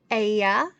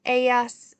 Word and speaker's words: Ella: Ella means she. Remember, the double L is pronounced as a Y.